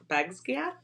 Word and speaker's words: Basgiath: And then did you want to say something about the um the map of the college, which is pronounced Bas- Basgiath?